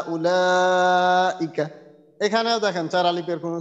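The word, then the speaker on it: أولئك: উলাইকা। হ্যাঁ, এই ওয়াওয়ের উচ্চারণটা এখানে নেই।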